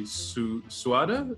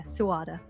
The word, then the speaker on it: Suada: But the name of your tea comic is Cafe Suada? Is that Suada, yeah, well done. Okay, a lot of people cool. kind of jump all over the shop with the pronunciation, but yeah, Suada.